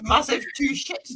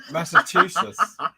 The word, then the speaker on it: Massachusetts: Did you just say massive two shits? To I me? said Massachusetts. A massive two shits. Yeah. Is Yeah. that how you say it? No. How do you say it? Massachusetts.